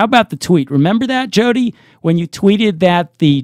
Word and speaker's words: Jodi: It's Jodi Rudoren.